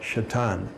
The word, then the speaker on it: Caton: He was Hugh William Caton. And I've always been a little bit curious. Caton is spelled C-A-T-O-N. If you pronounce the word in Lakota, it comes out Shatan, which is the word for hawk.